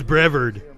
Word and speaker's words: Brevard: the way to the brevard county jail so we're going to ask you to help us get them there let's see who i thought was brevard he said brevard i've been saying it wrong yes we need more